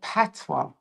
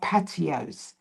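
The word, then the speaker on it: patois: I wrote the word PWA. Yeah. And PWA is spelled P A T O I S. And someone actually said that I can't spell cuz I can't spell patios.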